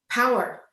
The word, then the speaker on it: Paour: were speaking with power i just want to call her last name something else because it's spelled p-a-o-u-r but her last name is power power and the